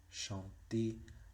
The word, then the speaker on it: chanter: La mayoría de las palabras finalizadas en ER, la pronunciación de esa ER final va a ser solo E. Chanter, aller, eh, y muchísimas más, muchísimas.